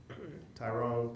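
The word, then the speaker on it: Tirone: Tyrone pronounced.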